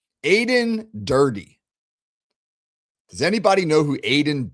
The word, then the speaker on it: Aden Durde: Aden Durde. Rhymes with birdie. Aden Durde.